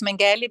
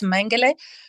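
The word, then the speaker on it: Mengele: everything that mangali did mang we say in Portuguese mangali but in German it's mang uh not just because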